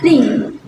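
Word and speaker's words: りん: Nah, minasang, untuk cara bacanya ada dua loh. Ada kunyomi dan onyomi. Kunyominya dibaca hayashi, sedangkan onyominya dibaca ring.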